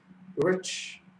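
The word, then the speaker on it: Urich: Is there an L in it? There's no L. I've been pronouncing Ulrich this whole time. It's Ulrich. I have no idea now because I've been pronouncing it with an L this entire time.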